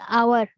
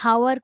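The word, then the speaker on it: hour: vowel भलिया sound करथिबो जेमति आवर हमें हावर कहनु हमें आवर कहो आर एंड आर h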